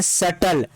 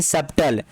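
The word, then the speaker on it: subtle: doubt पढेंगे doubt नहीं इसे पढेंगे सटल ना कि सबटल इसे क्या पढेंगे बैटर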